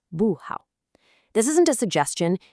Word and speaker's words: 不好: For instance, 好 is a third tone, so not good is 不好. It falls, 不好.